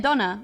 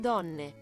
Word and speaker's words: donne: How do you say women, donna? Donne.